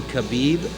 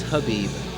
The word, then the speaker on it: Khabib: This whole time I think I've been saying Khabib. I think it's Habib. Is it really? I think the K is silent.